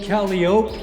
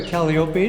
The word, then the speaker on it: Calliope: that's the girl there and then there's also caliope depicted here or Calliope depending on how you want to pronounce it and that would be here we